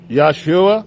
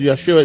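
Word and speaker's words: ישוע: Jesus, Yeshua, and that's the proper way of Yeshua. It's spelled with a Y, not with a J.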